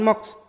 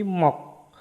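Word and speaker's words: 몫: Nah, bukan mox tapi mok. Sietnya nggak dibaca.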